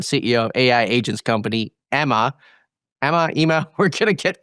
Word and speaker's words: Ema: So we call Ema. So it's Enterprise Machine Assistant, but it's pronounced as Ema.